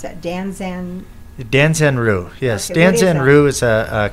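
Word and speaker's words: Danzan-ryu: How do you pronounce that? Danzanru, yes.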